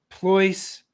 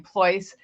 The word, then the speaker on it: Pleuss: Pleuss rhymes with choice, voice, or Rolls-Royce.